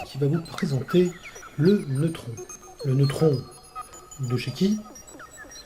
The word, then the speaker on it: neutron: Alors on pourrait aussi chipoter le neutron, là on va le prononcer à la française, puisque ça existe aussi, c'est un neutron.